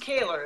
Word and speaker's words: Kaylor: So and your last name is pronounced Kaylor, is that correct? That's correct, yeah. Okay.